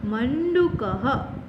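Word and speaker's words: मण्डूकः: This sign after Ma is pronounced as Na. Mandukaha means frog.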